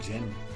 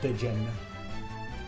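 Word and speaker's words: Djinn: Then again, I couldn't even pronounce Jin. I was calling it Dijin. Why did they put a D there?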